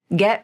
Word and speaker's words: get: momentum of her voice get remarried here's the glottal stop te again she pronounces the final te in get as a glottal stop since that final te